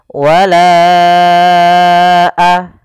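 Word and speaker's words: وَلَا: harakat atau l harakat Bagaimana cara membacanya wala a baru baca a panjangkan lanya dulu empat harakat baru lepas wala a ya walaa Kemudian pada lafalna di sini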